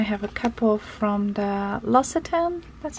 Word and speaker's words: L'Occitane: And then I have a couple from the L'Occitane, that's how you say it.